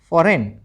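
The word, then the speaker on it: foreign: एस आई जी N sign और एफ ओ आर इ आई जी एन फॉरेन विदेशी जिसको हम कहते हैं। अब देख लो अगला वर्ड। ठीक है? जिसमें एच साइलेंट रहता है।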